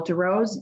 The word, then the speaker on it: Darowz: My name is DeRose, D-A-R-O-W-Z.